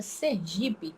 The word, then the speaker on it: Sergipe: mudar primeiro sua gramática a palavra Sergipe não é proparoxítona vocês vão não tem acento Então esse assento desavisado